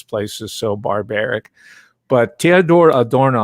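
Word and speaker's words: Theodor Adorno: is so barbaric but theodore adorno i'll use the german pronunciation teodora dorno he was also the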